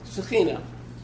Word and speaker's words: Shekhinah: Shekhinah is the way I've always heard it pronounced.